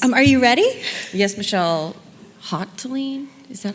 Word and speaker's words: Hotelling: Hoteling? Is that how you say it? Hoteling? Hoteling.